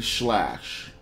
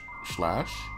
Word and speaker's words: Sclash: going to be slash I know it sounds like I'm pronouncing it funny but there's a c in there for some reason so I'm just going to say it how I think it sounds slash is a two 2D